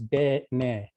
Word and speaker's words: Dene: took the word, and Dene's got two syllables, Dene.